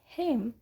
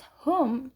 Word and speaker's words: home: For example, in Edinburgh, Scotland, the word home is pronounced as hame as if rhyming with fame among lower working class speakers, and pronounced as home as if rhyming with foam among middle class speakers.